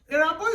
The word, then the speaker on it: Erabo: But in our own, the first letter E, like you pronounce Erabo. Erabo is not spelled with A, Erabo is spelled with E.